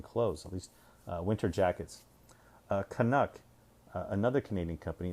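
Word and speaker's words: Kanuk: Canuck, another Canadian company. It's spelled K-A-N-U-K. So a little variation of Canuck.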